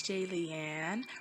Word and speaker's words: Jillian: it for life hey it's j leanne rhymes with alien like if you're a fan comment and subscribe hello my name is jillian let's get started what